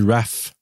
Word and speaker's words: Ralph: Oui, ça s'écrit Ralph, mais ça se dit Raph.